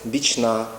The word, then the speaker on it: Бічна: що оголошення Бічна вулиця має бути наголос Бічна вулиця перехід на вулицю не